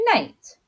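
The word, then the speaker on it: knight: the word night and night there are the same word but they're spelled differently and this word has a silent K at the beginning so this word means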